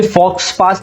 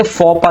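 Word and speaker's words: faux pas: फॉपा basically फॉक्स पास नहीं कहते, फॉपा कहते हैं, एक्स साइलेंट होता है।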